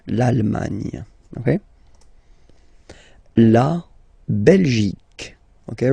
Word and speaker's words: Belgique: La Belgique, okay? Remember Q-U-E here, you will get only the sound k, okay? Belgique, Belgique. So it's not Belgique, not at all, okay? Because it's only the k. Belgique, okay?